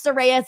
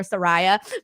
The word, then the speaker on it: Soraya: know how to pronounce soraya's name me being one of them because I kept calling her Soraya because of the spelling but now I practice and I know it's Soraya um but either way I